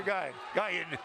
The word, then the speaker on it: Guyon: Yeah, Hunter Guyon, as we run last 2 nights ago. G-U-Y-O-N, but say it like it's Ian.